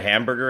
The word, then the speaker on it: hamburger: You don't know what a hamburger is?